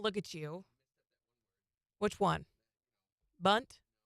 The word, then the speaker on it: Bundt: Bunt?